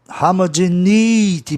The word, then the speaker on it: homogeneity: Veja bem, tem um ditongo aí, né? É I. E aí a sílaba tônica vai ficar no E. Homogeneity. Para você escutar a palavra de forma proparoxítona, é necessário que o E tenha um som I bem forte.